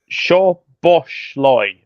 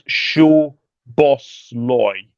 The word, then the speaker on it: Szoboszlai: Szoboszlai. I think one of the Z's is silent, so I think it's Szoboszlai.